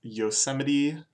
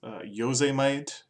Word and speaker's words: Yosemite: We're first looking at today's is Yosemite by Travis Scott, which I also quite enjoyed pronouncing as Yosemite, and as a Japanese word, Yosemite.